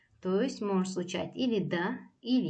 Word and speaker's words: дан: языке это глагол Да как видите пишется Дан в конце но читается Да дело в том что в чеченском языке есть правило все слова состоящие из одного услуга они пишутся с N в конце но это не читается за исключением нескольких слов так смотрите глагол до